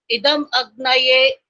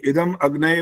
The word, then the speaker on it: इदम अग्नये: फिर आपने भी वही गलती करी है जो स्वराज गुप्ता जी कर रहे थे, इदम अग्नय बोला, यहाँ इदम अग्नय नहीं बोल सकते यहाँ पर। इदम अग्नये।